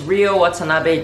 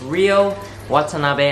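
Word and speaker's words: Ryo Watanabe: My name is Rio Watanabe, just like Rio de Janeiro, except it's spelt with a Y.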